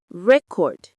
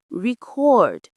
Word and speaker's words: record: For so many 2-syllable words, if it's a noun, you stress the first syllable, record. But if it's a verb, you stress the second, record.